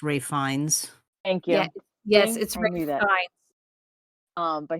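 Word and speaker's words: Ralph Fiennes: additional you have um I'm gonna say like in in American but I don't think that's actually how you pronounce his name but Ralph Phineas um I think he pronounces it differently um I think it's pronounced Ray fines thank you yes um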